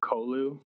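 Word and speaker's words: Colu: Because I always feel like if you don't pronounce it, it might sound like you're trying to say Kahlua. You know, the alcoholic beverage my sister-in-law drinks way too much of. Yeah, I've always pronounced it Kolu. I don't know, maybe because my last name's Cole and it's Cole, so it's just an U instead of an E.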